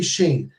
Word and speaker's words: Shayne: I think you actually have to shout out someone whose name rhymes with pain. Oh, that'd be Shayne.